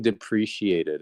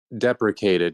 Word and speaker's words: deprecated: Bro, you've been saying depreciated, and that's Did I That's for really me, say it's sleep money. depreciated? Deprecated, yeah.